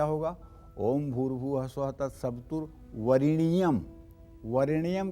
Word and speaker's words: वरेण्यम: तो इसलिए जब आप जप करेंगे तो वरेण्यम के जगह वरिणियम करेंगे, ये ब्रह्म पुराण में लिखा हुआ है। वरेण्यम की जगह वरिणियम करेंगे। लेकिन अगर आपको किसी को मंत्र सुनाना है या उच्चारण करना है तो वरेण्यम कहेंगे। यही लिखा हुआ भी है, वरेण्यम लिखा हुआ है, लेकिन जप करते समय एकारो जायते इकारः, वरेण्यम वरिणियम हो जाएगा।